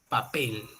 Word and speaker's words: papel: por ejemplo la palabra papel papel no dividimos pa pel donde cae la mayor fuerza de voz la mayor fuerza de voz recae en papel no la última sílaba ahí